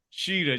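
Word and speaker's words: Shida: Sheeta.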